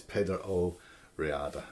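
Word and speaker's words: Peadar Ó Riada: there we have it the uh composition by peda oriada um i think i might have called him sean uh so my apologies for getting his name wrong at the beginning yeah it's pedo riada heart player so yes it's not a very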